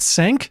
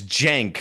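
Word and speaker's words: Cenk: your your debate with uh how do you pronounce his name? Is it Sank now? It's jank.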